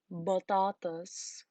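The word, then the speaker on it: بطاطس: So the Arabic language does not have a p sound. It replaces it with b when it borrows it from English. So batatas is potatoes.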